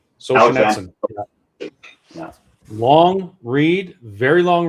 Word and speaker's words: Solzhenitsyn: Solzhenitsyn. Solzhenitsyn.